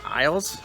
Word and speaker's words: aisle: they have many different aisles and in english and aisle would be like this number not i will like i will go somewhere but i'll like a-i-s-l-e is how you spell that and they have different